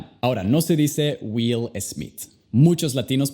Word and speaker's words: Smith: Primero con las S. Nunca digas es. Es simplemente s. Luego, ya que la sílaba no es enfatizada, al escucharla, la vocal se convierte al sonido schwa. Y al final tenemos el sonido de TH.